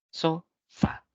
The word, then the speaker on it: sofá: tildar otra podría ser sofá tiene dos sílabas so fa y la mayor fuerza de voz rec cae en la última sílaba por lo tanto va a ser una palabra aguda Pero todas las palabras